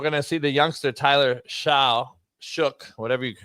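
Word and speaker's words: Shough: And then we're gonna see the youngster Tyler Shook, whatever you pronounce his name.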